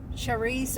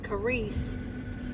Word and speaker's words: charis: And have you looked up in the Strong's Concordance, G 5485, grace, charis or karis, if you pronounce it karis, um, the word charisma comes from that.